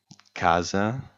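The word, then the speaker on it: casa: word here is Kaza Kaza stress falls on the first a Kaza meaning house you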